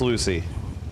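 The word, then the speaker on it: Lucie: Lucia or Lucia? Lucia? It's Lucy. Then why don't they just spell it Lucy?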